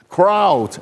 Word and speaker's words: crowd: students English pronunciation right three words Cloud the sky crowd a group of people and cow you know animals because they cannot pronounce it properly and kind of uh